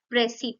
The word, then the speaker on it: précis: प्रेसी यानी कि यहाँ पर स्पेलिंग है PRECIS लेकिन हम इसे बुलाते हैं प्रेसी।